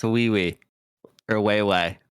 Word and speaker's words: Wei: And it's wee wee or way way. It's WI. WI? Yeah, that's how it's pronounced. Like way way.